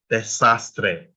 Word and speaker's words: desastre: The next one is a word that also ends in a vowel, it ends in E, right? And how many syllables? Desastre, 3 syllables. So you stress the second to last one, which is sas, and you stress the A. Remember, we only stress vowel, desastre.